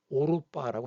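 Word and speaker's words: 歐羅巴: 이게 중국 발음으로는 오로빠라고 합니다. 오로빠.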